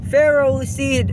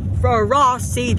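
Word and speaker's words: Ferroseed: I'm fine with that pharaoh seed and Pharaoh Thorn not for a raw seed or for raw Thorn fairies which contains iron you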